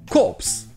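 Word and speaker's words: corpse: mot qui vient du mot corps en français corse ça c'est un cadavre est ici vous pouvez voir qu'il ya un e à la fin et le pay prononcé cops donc quand c'est un corps militaire et corse c'est un cadavre vous trouvons aussi un pmu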